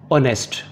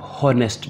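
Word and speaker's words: honest: ऑनेस्ट, इसमें भी H silent है। ऑनेस्ट, इसको आप हॉनेस्ट नहीं पढ़ेंगे, ये ऑनेस्ट है, ईमानदार।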